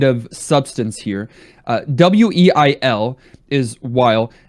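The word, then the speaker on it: Weil: W-E-I-L is Wile. Sounds like Wily, right? And I think they were going for that. But also, in German, that would be pronounced, the W would be pronounced with a V. Vile, which is interesting because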